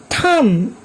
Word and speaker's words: thumb: Take some other examples like comb, climb, tomb, thumb, lamb. Here also B is silent.